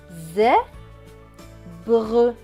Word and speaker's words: zèbre: Et le S à la fin ne se prononce pas puisqu'il est écrit en bleu. Donc ce mot va se lire zèbre, zèbre, zèbre.